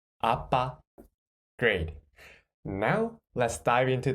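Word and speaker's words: 아빠: And second syllable, what is the sound of this consonant? Yes, b. B. And the vowel is a. So, b, a, ba, a, ba, appa.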